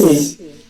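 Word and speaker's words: עץ: Alors le sadé c'est TS.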